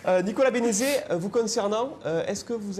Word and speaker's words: Bénézet: Nicolas Béné... une compétence encore. Nicolas, on a bien noté la différence et la syllabe qui manquait peut-être dans votre inconscient. Nicolas Bénézet, vous concernant, est-ce que vous avez...